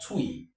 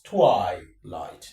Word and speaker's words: twilight: So, that means the underlined vowel sound is I I and not E. Not twi. Not twi. This is wrong. This is the right thing. Right? This word is twi light twilight.